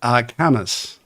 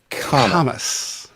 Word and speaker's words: Kammes: I'm going to let Michael tell us his pronunciation, but I believe it's Kammes, right? It's like Thomas with a K. Kammes.